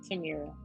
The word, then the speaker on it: Tamera: Am I saying it correctly? It's Tamera. Tamera. Okay, perfect.